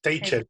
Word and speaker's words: Teicher: Tal y como suena en español, Teicher, con E y CH, Teicher, Martin Teicher.